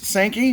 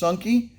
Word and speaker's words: Sankey: oh sanki yeah so it's sankey but it's pronounced sunky and it actually means psycho in hindi and since it's a